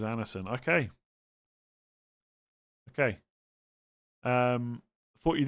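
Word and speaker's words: Andersen: D is mute after N. Okay. Anderson. Okay.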